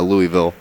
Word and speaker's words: Louisville: Louisville there are only there are only one and a half syllables in Louisville Kentucky Well Louisville yeah one and a half if you if you go for the one and a half you're okay if you leak into two syllables but uh certainly not three wow although some people